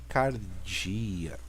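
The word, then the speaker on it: καρδία: a nossa letra errou esse P tem som de R Aqui nós temos a letra Delta de D então aqui Cardia Aqui nós temos o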